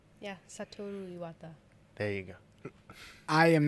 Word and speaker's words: Satoru Iwata: Yeah, Satoru Iwata. There you go. I am not even going to try to pronounce that name.